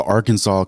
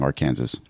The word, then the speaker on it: Arkansas: no law that actually says it's prohibited from mispronouncing it but there the Arkansas code actually does Define how to pronounce Arkansas